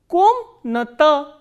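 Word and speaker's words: комната: Next, we have ka, o, ma, na, a, ta, a, and stress is on o. So, how will we pronounce this word? Komnata, komnata.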